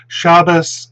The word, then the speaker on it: Shabbat: absolutely the um the in shabbat the stress moves off the ultimate syllable in ashkenaz shabas and uh it um stays on the stressed syllable in safari that's a robust